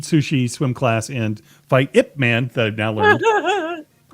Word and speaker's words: Ip Man: Eat sushi, swim class, and fight IP Man. Or Man. what's that? Ip Man. Ip Man. Oh, sorry. That's how it's pronounced.